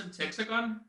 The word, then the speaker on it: Semtexagon: I'm your host, Semtexagon, and you're listening to the Warframe broadcast, bringing you the latest news of the Origin system. Speaking of, Semtexagon, it's pronounced Semtexagon, decided it would be